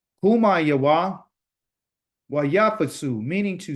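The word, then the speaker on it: קומה: This is how you say to rise in Hebrew, kuma. Kuma.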